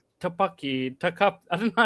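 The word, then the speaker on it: Topkapı: Topaki. Tap. I don't know how to pronounce it. I'll help you out, Mr. King. Mr. Muslim. Top copper. Top copper. Yeah, top copper.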